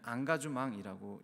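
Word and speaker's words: engagement: 이 참여를 프랑스 말로 읽으면 앙가주망이라고 읽습니다.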